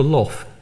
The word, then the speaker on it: loff: But by the 13th century in England, it was called a loff, a bit like the word luff, which you get in later English.